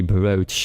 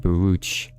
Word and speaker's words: brooch: Is it supposed to be pronounced as a brooch instead of brooch? Like an O sound instead of an oo sound because I remember somebody getting upset about it. BR. Well, it seems both are allowed, but it's supposed to be brooch instead of biruch.